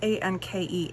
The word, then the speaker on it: Anke: And so today's sketch looks like it was a hip kit sketch, and it was by, I'm not going to pronounce her name right, it's A-N-K-E, Anke Kramer.